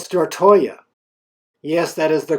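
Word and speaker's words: Stortorget: the gamma stand grand square it is called star Toya yes that is the correct pronunciation these green red and yellow buildings are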